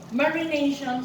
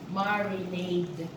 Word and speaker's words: marinade: So, marination, sabi niya. Hindi po. Marinade. Di na po yun. Marinade. Diba? Marinate, T-E. Marinade, D-E. No.